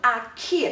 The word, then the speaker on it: akhir: 有的印尼人会发成 akhir，有的人会发成 akhir，这是一个外来词的关系。